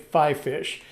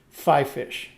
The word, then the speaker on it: FiFish: this is another one it's spelled f-i-f-i-s-h i have been pronouncing it five fish and everybody i see it on youtube pronounces it five fish give me do you